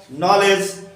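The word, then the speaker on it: knowledge: এই ক্ষেত্রে কে অনুচ্চারিত থাকে, তার মানে কে এর উচ্চারণ হবে না।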